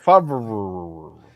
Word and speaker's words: Favre: Favre. Yeah, like I prefer to use it by like his parents do. Favre.